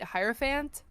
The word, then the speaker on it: hierophant: pronounced is arant but I don't pronounce the h yeah like araon yeah